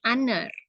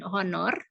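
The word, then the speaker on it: honour: like sound like ya Jadi kata H itu dibacanya bukan honor tapi hanya itu tidak dibaca ya jadiengucapannya Di lebih vokal ya aner dibandingkan her Bukan haner tapi bukan haner bukan honor juga tapi her jadi h-nya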